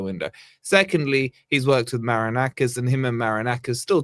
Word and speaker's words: Marinakis: Marrakesh has eaten Ange Postecoglou. Or at least say his name properly. Marinakis.